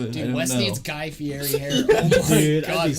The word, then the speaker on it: Fieri: So I found out his last name is pronounced Fieri. No one says it. Yeah, I'm not gonna do that. It's like Ferrari, but Ferrari. Yeah. It's pronounced Fieri. It's so weird.